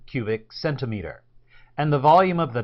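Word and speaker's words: cm³: So you can pronounce this abbreviation as centimeter cubed, or much more often, it's called cubic centimeter.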